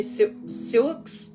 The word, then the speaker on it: Sioux: Native American shamanism tribes are these, oh, I hate that I might mispronounce this. The Sioux, S-I-O-U-X, sorry.